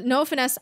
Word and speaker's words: Noah Finnce: So Noah Finnce, is how you pronounce it.